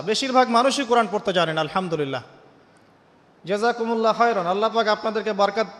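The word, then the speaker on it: الحمد لله: আপনি পড়ছেন আল্লাহু আকবার, আলহামদুলিল্লাহি রাব্বিল আলামিন, এই তো আপনি পড়ছেন আলহামদুলিল্লাহ। শব্দটা কি? আলহামদুলিল্লাহ। এই হা এর মাখরাজ কোথায়? হা এর মাখরাজ কোথায় বলেন একজন? কণ্ঠনালীর মাঝখান থেকে।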